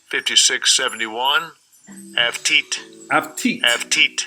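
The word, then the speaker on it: עבטיט: Avtit. Avtit. Avtit.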